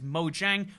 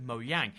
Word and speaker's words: Mojang: fully american company but a lot of people do pronounce it the american the english-speaking way which is mojang more so than pronounce it mo yang and the question should